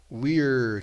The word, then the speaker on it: we're: Ele fala we gonna play, ele não usa o verbo to be ali. We're, que é we are gonna play.